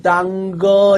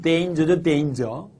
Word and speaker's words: danger: 지푸라기라도 당거 이 말입니다. 지푸라기라도 당거. 그죠? 선생님 왜 그렇게 발음을 망치십니까? 이렇게 말하는 경우도 있습니다. 물론 이 단어의 정확한 발음은 danger죠. danger.